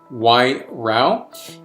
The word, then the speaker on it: Wairau: zealand and 13.5 abv i like how they give a pronunciation right here y row and uh so this